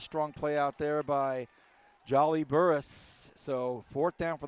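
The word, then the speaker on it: Jaalijali: at that magic number spells his first name j a-a-l-i-j-a-l-i yep and it is pronounced jolly yep all right who are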